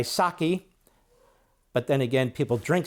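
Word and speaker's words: Psaki: Unlike Pasaki where the P is silent so she goes by saki but then again people drink saki so I call her pasaki and Abby Phillip I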